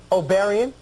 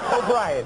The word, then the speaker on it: O'Brien: to talk to Willard how do you say my last name oian no just way O'Brien O'Brien okay all right I